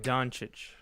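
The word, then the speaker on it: Dončić: Los Angeles Lakers guard Luca Donic. Dansik Donuch.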